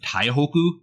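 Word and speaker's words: Taihoku: taibe which incidentally is often referred to by the Japanese pronunciation of Tai Hoku during this period but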